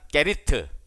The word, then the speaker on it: 그릿: 그릿 시내가죠. 이 그릿은 영어식 발음이 아니에요. 성경이 기록된 대로 발음하면 게리트.